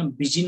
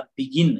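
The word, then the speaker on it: begin: ಆದ್ರೆ ಇಲ್ಲಿ ಇದನ್ನ ಬಿಜಿನ್ ಅಂತಂದನಲ್ಲ, ಬಿಗಿನ್ ಅಂದ್ರೆ ಗ ಉಚ್ಚಾರಣೆ ಇಲ್ಲಿ ಕೊಡ್ತಾ ಇದೆ.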